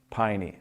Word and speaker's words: Peine: N E and said it's like a pie on your knee. Piney.